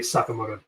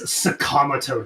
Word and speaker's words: Sakamoto: of the anime and manga is very clearly Sakamoto. His name is Sakamoto. They pronounce him as Sakamoto. They everyone calls him Sakamoto. Right. Uhhuh. The very end of the theme song says Sakamato Days.